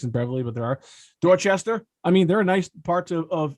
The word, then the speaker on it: Dorchester: How Bostonians, if there's an A followed by an R, we never even pronounce the R. So you So grew up funny. in Dorchester, as we would say. In Dorchester.